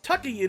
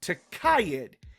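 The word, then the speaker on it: Tukayyid: For example, I say Tukayid in a video when it's actually pronounced Takayid. It wasn't until MechWarrior 5's DLC, Wolves of Takayid, where we heard the proper pronunciation.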